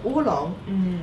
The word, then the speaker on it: oolong: The people, when they call these dry tea leaves the black dragon, so they made the local pronunciation is oolong. So later, when other people, other region follow them to make the oolong tea, the same way